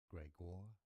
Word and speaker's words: Gregor: Gregor, Gregor, stress on the second syllable, not Gregor, Gregor Gregor, Mendel.